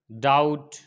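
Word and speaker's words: doubt: अगर टी से पहले बी आए तो क्या होगा, बी साइलेंट होगा। जैसे डेट, डाउट, सटल।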